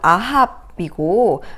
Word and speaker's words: 아합: 인물 이야기를 해보겠습니다 바로 a 해브 선장인데요 히브리어로 발음하면 아합이고 성경에 이스라엘의 왕으로 잘